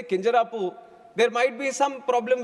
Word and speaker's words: Kinjarapu: And when some people say Kinjarapu, there might be some problem with them. They can't pronounce it the way I pronounce it.